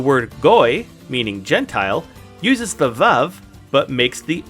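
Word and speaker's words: וָו: Next is vav or wow. But because we're sticking with the sphartic pronunciation, we're going to call it vav and pronounce it as such.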